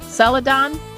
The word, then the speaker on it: Celadon: now the print version is by is it pronounced Celadon yes okay yes it's a an imprint of